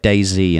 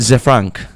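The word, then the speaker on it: ZeFrank: Yeah, but people say like Day Z and it's Day Z, and it pisses me off. No, Z. Z. Z-E-E. That's what it's spelled. Z Frank.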